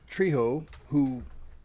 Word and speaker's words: Trejo: Danny Trejo, Trejo. Yeah, I do the same things. Trejo. Sure. Yeah. Yeah, Trejo. The J is silent. That's right. He voiced in Fallout New Vegas, like we were just talking about. Oh, sorry. Not silent. I want to correct that before people yell at me.